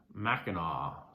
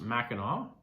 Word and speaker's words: Mackinac: Big Mac, pronounced Mackinac. So the Mackinac Bridge is pronounced Mackinac, and that's called Big Mac.